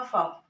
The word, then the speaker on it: folk: जैसे ये हमने लिखा FOLK, तो यहाँ पर जैसे यहाँ पर आप देख लीजिए कॉन्सोनेंट, यहाँ पर वोवल लेटर नहीं है तो यहाँ पर जो ये L है ये साइलेंट हो जाएगा, तो यहाँ पर हो जाएगा आपका फॉक, पढ़ने में ये कहा जाएगा।